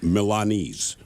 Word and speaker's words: Milanese: And by the way, it is Milanese.